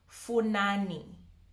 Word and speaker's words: Funani: That's a very simple one because it doesn't have the FH. It's just the F alone. And if the F is alone, you pronounce it like how you would normally pronounce F in English. Funani. Funani. Whereas if it had the FH, that's where you get the fu, you know.